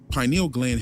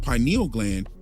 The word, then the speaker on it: pineal: Well, actually, pineal gland has two pronunciations, and pineal gland is actually the first pronunciation. Pineal gland came later.